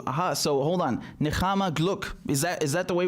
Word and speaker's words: Nechama: Also, my name is pronounced with a cha sound, meaning comfort in Hebrew. Aha. So hold on. Nechama Gluck.